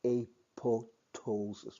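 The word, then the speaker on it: apoptosis: disintegrating but waning also it has a silent P spelled AP o p t-- o-- s bias but pronounced a toe toes us without p so and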